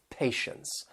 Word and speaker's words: patience: And notice both words they have that tie e which is pronounced sh with that schwa sound. Patience. And in this word patience the t is going to be silent.